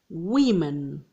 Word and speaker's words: women: so tooth teeth mouse mice ox oxen woman women okay here is different from man man woman